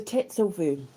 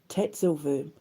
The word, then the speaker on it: Tatzelwurm: So yeah, the tatel verm if I've pronounced it right. I think there they pronounce their W's V. Tatel verm. If I've pronounced it wrong, I'm sorry, but I will learn it eventually.